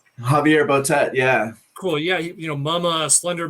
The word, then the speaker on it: Javier Botet: most inspiring one was, the actor, hope I pronounce his name properly, Javier Botet. Javier Botet, yeah.